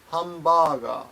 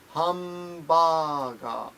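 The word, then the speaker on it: ハンバーガー: point here PTD ask about hamburgers and japanese pronunciation is hum baga be careful it's hum baga I guess handbag all right I'm sorry it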